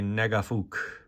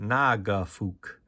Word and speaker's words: Nagafook: And then we've got a Negafook. And how to actually pronounce it, Nagafook. You say it too fast, and you can get yourself into trouble.